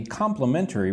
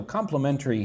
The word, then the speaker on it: complimentary: So, how many syllables does complimentary have? Complimentary. So, treat it like it has four syllables.